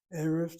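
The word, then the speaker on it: ערב: The next paragraph, Erev Tov, and again she shows the accents on that first of the two syllables.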